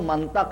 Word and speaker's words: منطق: تھا کہ منطق سے لفظ منطق ہے عزیزو، منطق نہیں ہے۔ یہ بھی عرض کر دوں، یہ محلی لہجے ہیں، بہت سے لوگ منطق توئے کے زبر کے ساتھ استعمال کرتے ہیں، یہ غلط ہے۔ منطق ہے، علم منطق